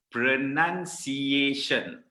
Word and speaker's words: pronunciation: Pronunciation. It's not pronunciation. Kan, Malaysians banyak sebut pronunciation. Or ada juga yang sebut pronunciation. It's not it's not pronunciation, it's pronunciation.